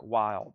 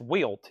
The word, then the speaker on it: Wild: But that is pronounced Wilt. Yes, thank you. Wilt. That D throws me off.